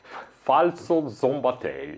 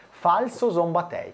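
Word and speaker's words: Falco Szombathely: posso dirlo alla bragagna puoi dirlo alla bragagna falso zomb tei bellissimo bellissimo falso zomb tei Questa è la pronuncia corretta di è chiaro che diremo Falco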